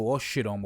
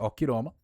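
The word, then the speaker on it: ὀχύρωμα: Okroma, para quem não sabe, o Oshiroma ou Okroma, prefiro essa pronúncia, Okroma, é fortalezas, tá?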